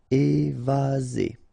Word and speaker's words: évaser: Remember, one S between two vowels. Z. Évaser.